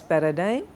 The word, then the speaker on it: paradigm: discipline also in grammar um so it is pronounced as Paradigm it is what part of speech it is